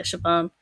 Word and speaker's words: Siobhan: And then you come across Siobhan, whose name I had to look up how to pronounce because it's Irish.